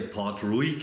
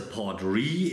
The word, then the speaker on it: Port Ruighe: Port Ruig, ich spreche ihn so aus, weil er so geschrieben wird. Es kann aber durchaus sein, dass er anders ausgesprochen wird. Laut Google, und das habe ich mir jetzt mal aus dem Internet gezogen, heißt der wohl, wenn man richtig aussprechen wollte, Port Ruig.